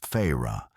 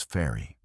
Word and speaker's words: Feyre: The main character, Fyu, pronounced in book as Fra, but in English as fairy.